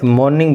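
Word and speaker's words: morning: ये are pronounce हो गया में से, मॉर्निंग बोला जाता है इसको, आर पे स्ट्रेस नहीं होता।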